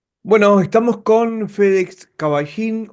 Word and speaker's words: Cavallin: Bueno, estamos con FedEx Caballín o Cabalín, ¿cómo cómo es tu apellido? ¿Cómo se pronuncia? Cabalín. ¿De dónde? Es italiano, pero bueno, se escribe cabalzin con dos L, pero se pronuncia con una.